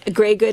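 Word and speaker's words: greige: So, here is your basic greyg good. So, um grey good in that is spelled g r re r e i g e and it just means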